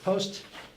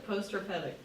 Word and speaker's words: post-herpetic: Because how do you pronounce it? Post-hepatic. Herpetic. What's that? Herpetic? Can you say it louder one more time? Clear loud. Post-herpetic.